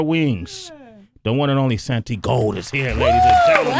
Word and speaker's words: Santigold: the world says that that's why they say it wrong okay cool but it's really Santi Santi gold Santi gold but it